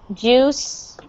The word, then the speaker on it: juice: water okay um uh this word juice juice is a little bit tricky um people to pronounce because it looks like it should be jewish but it is not okay it's juice juice that you i in this word makes it ooh sound juice juice and just